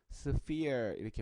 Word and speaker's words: sphere: 자, 발음은 PH의 발음이 F이기 때문에요. sphere 이렇게 발음합니다.